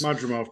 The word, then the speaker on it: Madrimov: Bud Crawford recently fought Magnadov. Did I state that correctly? Correct. The name pronounced? Yes. Madrimov, correct.